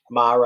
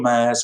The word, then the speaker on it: mare: Have a bit of a chat about the most famous sea, or mare. I said it right, Steve. Are you proud? Well done. You can call them mares if you want to.